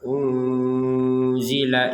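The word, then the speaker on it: أُنزِلَ: Di sini dibacanya dengan samar. Unzila ilaika.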